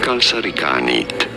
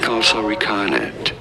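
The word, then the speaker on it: kalsarikännit: Kalsarikanit. You do want to Kalsarikanit. stop a little bit on the ka syllable. Kalsarikanit. Or you could say in English as kalsarikanet.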